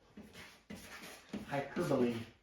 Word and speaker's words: hyperbole: Hyperbole. That looks like hyperbole. If I spell it correctly again.